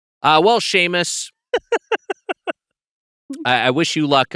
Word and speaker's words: Seamus: Sheamus.